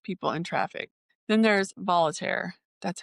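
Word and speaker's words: Voltaire: Then there's volunteer.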